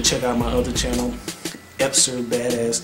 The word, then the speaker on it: Epser: out my other channel, Epser Badass 2. I spelled it wrong. It's really Esper, but it's spelled Epser, like E-P-S-E-R.